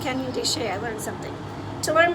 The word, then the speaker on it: Canyon de Chelly: soft pretzels and pizza canyon de chelly oh pronounced canyon de shea i learned something to learn more about the